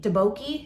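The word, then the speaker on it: tteokbokki: taboki oh one of you told me how to say it debokey deboki you do it like kind of like duck duck i appreciate that so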